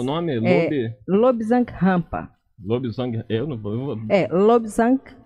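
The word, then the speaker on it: Lobsang: Não, existe um autor espiritualista cujo nome é Lobzang, com G no final mudo, Rampa, com R, que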